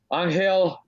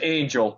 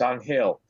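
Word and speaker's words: Ángel: man in in New York his name is on hail dela Cruz everybody says angel but you know he's he's Dominican so he you know he's a spanish-speaking man and their Spanish pronunciation of angel is on hail mmm everybody calls him angel except me I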